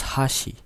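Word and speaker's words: 箸: a high pitch and the second word is Hashi so Hashi has two syllable the first syllable is ha and the second syllable is she you can see in the graphics here in the hassy Chopsticks the first syllables has a high pitch and the second syllable has a low pitch meanwhile in hasi Bridge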